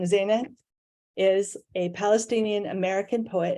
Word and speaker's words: Zineh: Zineh, or no, I've just said it wrong, Zineh, is a Palestinian American poet and scientist.